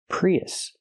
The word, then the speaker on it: Prius: When we link these two vowels, we hear y in the middle. Pre y Prius.